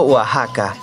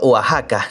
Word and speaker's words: Oaxaca: La X de Oaxaca es como la X de México, se pronuncia como J, sin embargo comúnmente las